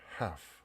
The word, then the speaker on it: half: 자, half. 자, L 발음이 안 나죠.